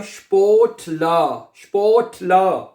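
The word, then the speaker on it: Sportler: ये देखें, स्पोर्ट SPORT है, स्पोर्ट ला आर आखिर में नहीं पढ़ना, ई को ए पढ़ा जाता है, यहां तक आपने प्रोनाउंस करना है, आर एंड पे लिखने में आएगा, पढ़ने में नहीं आएगा, ठीक है। तो ये बनेगा स्पोर्ट ला, ठीक है।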